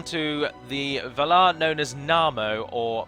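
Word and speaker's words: Námo: now as I say his name is na mo but he is often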